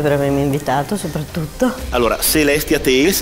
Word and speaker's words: Celestia Tales: Allora, Celestia Tales, è questa la pronuncia corretta?